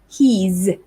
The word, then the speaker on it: he's: contract it like this he's he's so the s there sounds just like the z sound z so he's he's very